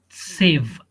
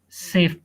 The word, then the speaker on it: saved: number two she had saved save how to pronounce that saved safe d that it must pronounce d saved save save save